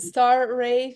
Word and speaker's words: Sztaray: sounded like a like or or the Z is silent. It's an E. A Z is silent. So I would say think of a ray of stars and star ray star.